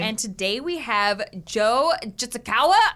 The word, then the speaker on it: Jitsukawa: And today we have Joe Jitsukawa.